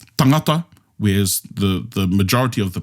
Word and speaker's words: tangata: Reo Māori only, because the rest of the Pacific, they stress in different places.